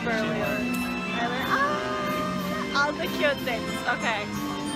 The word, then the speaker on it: Berlioz: It's Berlioz.